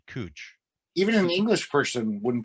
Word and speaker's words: Couch: spelled c u which most normal people would pronounce couch but in Portland they pronounce it cooch even an English person